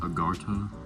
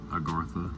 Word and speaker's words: Agartha: to this inner civilization, Agartha or Agartha. I've seen it pronounced both ways.